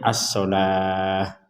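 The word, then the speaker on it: الصلاة: Jadi yang dibadal di sini adalah as-sholawah. Kalau tulisannya as-sholawah, tapi ini dibacanya as-sholah.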